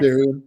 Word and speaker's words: Ethereum: How do you pronunciate that? Is that Ethereum? Is that right? Ethereum, yeah.